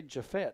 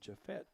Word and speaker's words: Jafet: the 40 yd line what they say jafet I thought it was jaffet so I have been mispronouncing that jafet kind of an odd